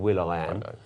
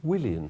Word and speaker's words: Willian: his name pronounced properly I get fed up with hearing will I am it's Willian you're just not you're just